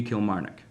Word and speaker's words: Kilmarnock: If my New England background it lends anything to experience, then you gotta just kind of roll through the syllables. Just keep going with it. And it should be Kilmarnock.